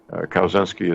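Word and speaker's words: Kawczynski: excellent book the coming Civil War by Tom cows in skiing kowenski is spelled ka w c zy in s ki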